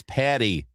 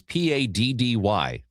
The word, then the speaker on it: Paddy: It is Paddy, not Patty. There's a T in Patrick, though. But okay, so the root where the name Patrick comes from, it's In Ireland, it's spelled like Padr, Padraig, like Padragh or something like that. So it's Patty with 2 D's. It's not 2 T's.